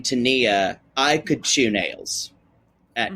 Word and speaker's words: Tania: move on to now I know you probably say Tanya and Sinjin on our show we say Tania and Sinjin because that's how it's spelled I will correct you if you say Tanya don't worry uh there is no y there you're right it is an I we've had I would